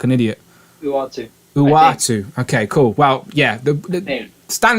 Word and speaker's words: Uatu: Because I'll pronounce it wrong and look like an idiot. Uatu.